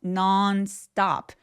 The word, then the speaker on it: nonstop: Stop 아니요. Non stop. Non stop 강세 두 번 옵니다.